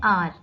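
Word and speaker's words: hour: जो लिखा हुआ है एच ओ यू आर इसको हार नहीं पढ़ते इसको पढ़ते हैं आर ठीक है एच साइलेंट होता है यहां पे सो यह हो जाएगा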